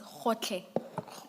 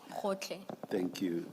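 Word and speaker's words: Gotlhe: Advocate Powe, It's Khotle. Khotle. thank you. And maybe, Ms. Hassim, it may have to be spelled for the transcript. Thank you. And that's spelled G-O-T-L-H-E. Hotle.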